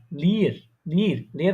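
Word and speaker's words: leer: Double E আর, লির, লির মানে কি জানেন? লির মানে হচ্ছে আপনার খালি বা এমটি। ঠিক আছে? লিয়ার মানে কি? খালি বা এমটি। লির একটু টান দিয়ে উচ্চারণ করতে হয়, প্রনাউন্সিয়েশনটা করতে হয়।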